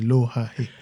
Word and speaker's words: Lohahe: C'est comme ça qu'il prononce ça, Lohaé? Patrice Lohaé. Lohaé. Oui. C'est intéressant. En Tétera, c'est Lohaé.